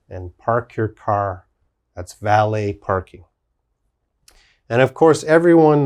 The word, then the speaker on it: valet: use it in english cabaret the next word valet valet of course there's valet parking you go